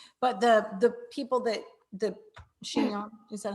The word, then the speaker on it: Chinon: But the people that the Chinon, is that how you say it? Chinon. Chinon.